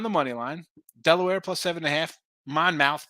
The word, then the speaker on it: Monmouth: We got Maryland on the money line, Delaware +7.5, Monmouth +5, Lindenwood +7, Eastern Illinois +7.5, and Utah under 148.5. I know it's pronounced Monmouth, folks.